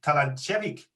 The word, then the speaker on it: Talandziewicz: Just will be pronounced Talandziewicz, but the foreigners say usually Talandziewicz.